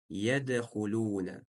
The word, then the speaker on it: يدخلون: Поэтому вараайта наса ядхулуна. Буква даль исправил калкала. Читаем с сотрясением. Ядхулуна.